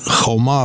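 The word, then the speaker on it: חומה: And the word for wall is choma, but what if you take away the vowel, it you can pronounce it cheima, which means anger or hatred.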